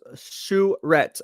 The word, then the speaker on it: Charette: all right robert says my last name is pronounced shuret okay charette did i get it